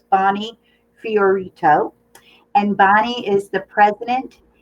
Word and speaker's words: Fiorito: She actually wrote it out phonetically for me. So it's Bonney Fiorito.